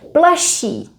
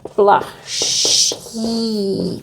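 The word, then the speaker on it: plašší: If you want to say shyer, someone is shyer, it would be plaší, funnily spelled with double sh, but we only pronounce one.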